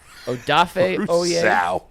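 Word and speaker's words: Odafe: he hasn't been good Eric Stokes Gregory rousa odaf that's how you pronounce it o is coming on lately and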